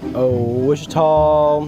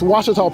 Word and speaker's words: Ouachita: Wichita. Achita. Ouachita. Is it pronounced Ouachita?